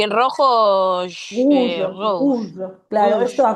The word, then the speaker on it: rouge: Y en rojo, Rouge, rose. rouge. Claro, esto Rouge. acuérdense que la OU se fuese como una U. Es rouge. Rouge.